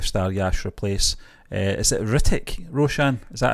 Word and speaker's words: Hrithik: I always think H's are silent. Yeah. I just can't say I think you're bang on. It's Hrithik. Like Hristo Stoichkov.